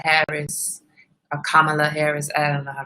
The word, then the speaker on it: Kamala: the responsible thing and talk about this um kamela harris kamala harris and i pronounced her name kamala kamala kamala i think